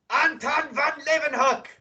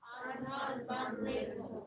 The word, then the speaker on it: Anton van Leeuwenhoek: I do, but I can't, I don't know how to pronounce it. Do your best. Leeuwenhoek or whatever. Yes. So everybody repeat after me. Anton van Leeuwenhoek. Anton van Leeuwenhoek.